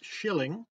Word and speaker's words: killing: look like get killing I'm told it should be pronounced yet Shilling which is almost appropriate